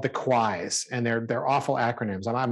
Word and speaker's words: QWISE: But the QUIs, which is a good shorthand for the 3 bad acronyms, and it's good, it's decent because it rhymes with why.